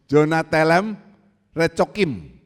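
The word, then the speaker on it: יונת אלם רחקים: Jonatelem Recokim. Tenang saja, ini tidak keluar di kuis. Saya aja bingung, saudara, yang bacanya. Jonatelem Recokim, bukan direcoin.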